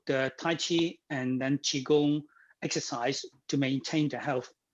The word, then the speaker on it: Qigong: Qigong is the two words. Qi is Qi, but some people spell it CHI. Qi, it means air.